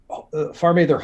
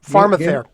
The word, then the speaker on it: PharmaTher: PharmaTher is PharmaTher Holdings. Is that how you say it? PharmaTher.